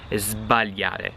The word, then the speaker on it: sbagliare: When you're saying those two verbs, you have to pronounce the S like a Z, like a Z. Sbagliare, zb, and then svegliare, zv, okay?